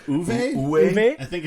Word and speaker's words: Uwe: I think it's Uwe? Uwe? I think it's Uwe. Uwe.